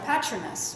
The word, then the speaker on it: patronus: Because they can summon their patronus, or patronus.